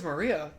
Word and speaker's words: Maria: I'm like, it's Maria. No, this is my thing. A lot of people struggle saying Maria for some reason sometimes. I've gotten Marie and I'm like, how the fuck?